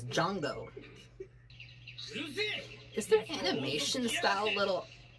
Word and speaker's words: Jango: or did they replace Jingo I'm saying his name wrong it's Jango is there animation style